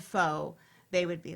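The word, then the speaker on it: phở: lot here is that most people here would pronounce pho, right? The Right. soup, pho.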